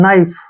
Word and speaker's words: knife: पहले के आ गया, के को छोड़ देना है, NI का उच्चारण नाई करेंगे हम, ठीक है, और FE का उच्चारण यहाँ पे फै करेंगे। नाइफ, नाइफ मीन्स क्या होता है, सभी को पता है, चाकू।